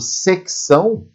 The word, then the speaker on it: secção: Agora, se nós pensarmos o secção, o som desse C é pronunciado, né?